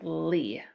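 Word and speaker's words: -ly: Even though when we say it ly, it sounds like lee. Remember we said y can be a long e sound or a long I? Okay, so this is a long e sound, lee.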